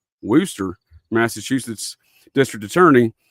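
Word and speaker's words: Worcester: Why in 1991 would a the war wor uh I'm sorry Warchester worooster it's spelled w o r c e s t r but I think they call it worooster Massachusetts district attorney said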